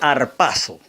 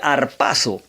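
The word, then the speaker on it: ἁρπάζω: La palabra arrebatamiento es un término que en el griego se suena así como que harpazo. O sea, traducido del griego al español, la palabra varía y se pronunciaría harpazo.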